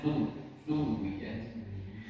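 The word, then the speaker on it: زُوِّجَتْ: Ya, jangan sampai zuwijat. Zo itu sudah salah. Bukan zo lagi, bukan za, bukan zu. Bacanya sudah zo. Harusnya zuwijat.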